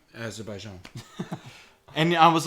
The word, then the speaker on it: Azerbaijan: So if you live in Afghanistan, Algeria, American Samoa, Argentina, Azerbaijan, the Bahamas, Bhutan, Azerbaijan. Yeah, okay. You're putting the emphasis on the wrong syllable. Oh. Azerbaijan.